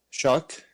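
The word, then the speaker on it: Shough: a believer in Tyler Sha or show, whatever you want. Shock. Shock. Yep. It's not spelled like it, but the the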